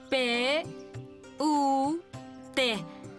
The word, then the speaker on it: put: para la boda inglés p u t se pronuncia put Y esta es b